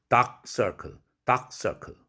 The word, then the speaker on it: dark circle: 크가 비개방음으로 발음해야 되죠. 다크 할 때 마지막 자음. 그러면 어떻게 되죠? dark circle 이렇게 되죠.